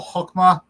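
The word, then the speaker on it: חכמה: So for example, Hokmah, it's I believe it's spelled with het, but often they pronounce it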